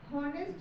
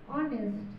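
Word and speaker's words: honest: হি ইজ অ্যান হনেস্ট ম্যান। আমরা কি হনেস্ট ম্যান বলতে পারবো? যদিও ওয়ার্ডটি এইচ দিয়ে শুরু হয়েছে, আমরা বলবো অনেস্ট।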